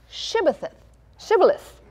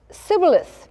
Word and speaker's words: Shibboleth: If he said no, then they said unto him, okay, if it's really true what you're saying, say Shibboleth. And he said Sibboleth, because they couldn't pronounce it.